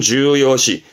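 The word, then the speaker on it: 重要視: 발음은 주요시, 주요시.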